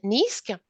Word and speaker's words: NEASQC: on uh explain us a little bit about niska sure foreign excellent so I'm talking about the